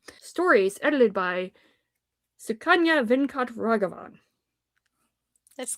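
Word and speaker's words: Sukanya Venkatraghavan: Thank God you said that because I was going to butcher the hell out of that name. Stories edited by Sukanya Venkat Raghavan.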